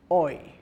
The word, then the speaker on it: hoy: Pronounced hoy. Now I must point out that an H in Spanish is not pronounced. So if you see H-O-Y, it's pronounced hoy.